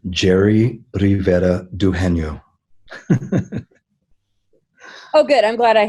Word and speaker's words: Jere Rivera-Dugenio: having me Laura and my name is pronounced jerry rivera Doohan yo oh good I'm glad